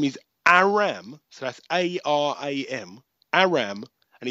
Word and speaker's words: Aram: So this guy's 4-0, undefeated, and his name is Aram.